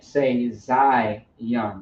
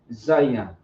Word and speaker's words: Zayan: It sounds like there's an I, but there is not an I. It's Za and Yan. But some people say Zayan when it's Zayan.